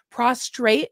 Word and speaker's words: prostrate: We had to like, lay, I want to say the word right, because there's a lot of bad ways to say it, prostrate before God, where you're literally on your a lot of not ways prostate. To say it wrong.